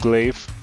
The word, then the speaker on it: glaive: People say that it's pronounced glaive.